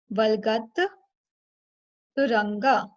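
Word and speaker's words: वल्गत्तुरङ्ग: We split it into 2 parts. Valgat means jumping. Valgatturanga. Turanga. Turanga.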